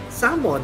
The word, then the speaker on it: salmon: ba sabi nila salmon, salmon, whatever the pronunciation pero tamang pronunciation is salmon. Walang L, silent L.